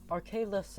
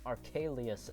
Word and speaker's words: Arcalis: I mean, Arcalius is just wrong, isn't it? Where is an I in the after the L? It's not Arcalius, okay guys?